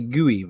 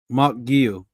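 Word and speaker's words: Guiu: M guyu because I I used to say guoy bro is that how you say his name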